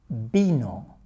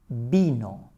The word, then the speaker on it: vino: In Spanish, the V is pronounced the same as B.